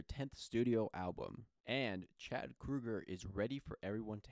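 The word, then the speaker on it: Kroeger: to hate Nickelback again and yes it is Krueger not Kroger most people say his last name wrong if you don't believe me um go and look at interviews of him talking about it his name is Krueger not Kroger but anyways moving on so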